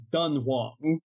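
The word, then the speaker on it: Dunhuang: GI so technically like the actual place in China is dunong not I I did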